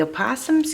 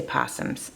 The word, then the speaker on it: opossum: So the opossums can go down, but I can't glue this one's head. I should say possums. It's spelled opossums.